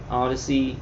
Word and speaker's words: Odysee: taken down on YouTube, Odyssey, ODY. It's spelled weird. It's like odd. What is it? ODYSEE. Odyssey.